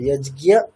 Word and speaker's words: যজ্ঞ: তাহলে এটা আমরা দুটো ট্র্যাডিশনই পাই, একটা যজ্ঞিয়া, দুটোই পাই আমরা, তাহলে দুটোই কারেক্ট।